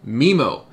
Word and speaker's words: MIMO: i say multi-user mimo other people have corrected me and said it's supposed to be memo apparently there's some contention